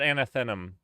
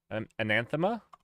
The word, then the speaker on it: anathema: It's not anathenum. I mispronounced it, and it's ananthemum. Anathema? There we go.